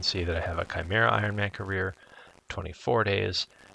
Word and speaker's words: Chimera: And it is pronounced Chimera.